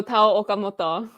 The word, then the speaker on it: Tao Okamoto: And, I feel like you can help me pronounce this name. Oh, Tao Okamoto.